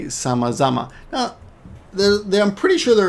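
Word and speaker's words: 様々: Remember, the second kanji's pronunciation changes a little bit because it's dependent on the previous kanji. But it's, in this case, it's the same kanji, right? But the sound changes.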